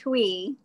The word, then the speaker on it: Chui: It's pronounced Tui.